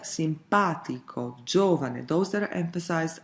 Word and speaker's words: simpatico: But, there are words that pronounced differently, for example: "simpatico"--third from the last.